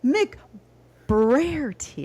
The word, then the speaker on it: McBrairty: Welcome back to Rock That Fitness with Anna Rockstar and Alex Mc Brarity. I'm always afraid I'm going to say her name wrong.